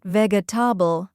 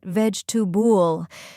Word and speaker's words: vegetable: Vegetable not veabble but vegetub.